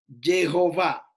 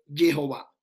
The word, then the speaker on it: Jehová: Jehová. La verdadera pronunciación no es de que Yahweh ni Yahweh, es un invento mesiánico. La pronunciación que tiene el texto como tal es Jehová.